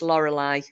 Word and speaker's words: Lorelei: it yeah it spelled slightly different but it's Lorelei yes well done even Alexa tells us to off yeah it's um it's it's pronounced the same however it's spelled l-o-r-e-l-e-i it's a Lorelei I thought that was that